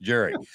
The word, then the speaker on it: Gyure: Garland uh and Jerry and if you look at on the screen it's gonna s look like G cheese but it's pronounced Jerry okay guys I gotta